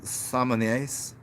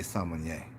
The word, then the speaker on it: sommelier: They're called sommeliers. See, if you read it, it wouldn't say sommelier. He barely pronounced the even L in it. It's a sommelier.